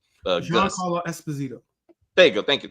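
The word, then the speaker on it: Esposito: Um, so maybe uh he'll be I can't pronounce his name. Espazito.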